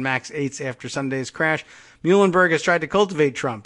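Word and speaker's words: Muilenburg: CEO Dennis mule and Muhlenberg I guess it's spelled the not like the college or the Pennsylvania town but mu I le mu mu Elin Berg but probably just says Muhlenberg spoke by phone with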